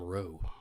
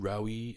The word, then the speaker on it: Rowe: You'd be surprised how often people mispronounce my last name Rowe. Really? Rowie. Is Mr. here? Like, really? Is it that tough a name? It's 4 letters, for heaven's sake.